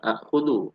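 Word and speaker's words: آخُذُ: Huwa ya'khud anta ta'khud ana akhudu. Nah, cara baca ana akhudu adalah ana akhudu. Karena pertemuan dua hamzah, yang pertama berharokat, keduanya sukun, itu sama dengan hamzahnya menjadi panjang.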